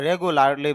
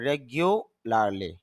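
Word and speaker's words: regularly: রেগুলারলি, যদিও আমরা রেগুলারলি বলি তবে শুদ্ধ উচ্চারণ হবে রেগুলারলি, নিয়মিত।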